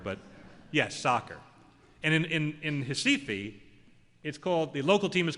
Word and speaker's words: Recife: It's pronounced Recife.